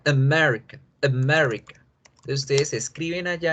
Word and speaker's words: America: Fíjense bien que las dos vocales A no se pronuncian A, sino que se pronuncian con este símbolo raro, con este símbolo que es como una E al revés.